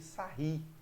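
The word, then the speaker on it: Sarrus: Dessa forma, para calcular esse determinante, a gente precisa utilizar a regra de Sarri, né, que vai se escrever sarros, se escreve sarros, mas a gente lê Sarri, ok?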